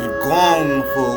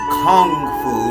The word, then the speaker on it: kung fu: i pronounce that gongfu the only difference is gongfu with a g is cantonese and kung fu like you like most of you see it kung fu decay is considered mandarin now i use the